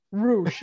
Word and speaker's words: Rush: Look at the fancy boy with all his proper pronunciations. Roosh.